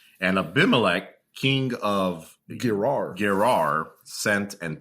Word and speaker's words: Abimelech: Abimelech. And Abimelech, king of Gerar, sent and took Sarah.